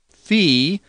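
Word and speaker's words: φ: double O in hoops fee sounds like the pH in phone ki sounds like the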